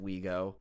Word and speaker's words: Ouigo: It highlighted terms that include the train operator SNCF's brand Ouigo, pronounced Ouigo, along with the straightforward imports such as big data and drive-in.